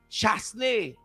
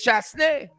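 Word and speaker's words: Chastanet: I see JT Co informing me that the St. Lucian PM's surname is pronounced Chasney. Is it French? JT Co? I hope I'm pronouncing your name right. Well, if Chasney it is, it's Chasney.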